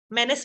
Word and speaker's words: menace: Menace means dangerous, right? Dangerous. He was very, yes, troublesome, dangerous, right? So, yes, the word is spelled differently. We pronounce it Dennis, rhyming, menace.